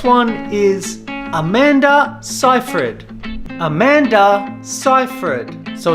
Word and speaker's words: Seyfried: is Amanda Seyfried Amanda ciphered so it's not Amanda Seyfried it's not Amanda Seyfried it's Amanda ciphered the next one is